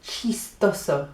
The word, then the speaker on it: chistoso: The word for funny is chistoso. Doesn't that sound nice? Chistoso. Sounds like cheese toast.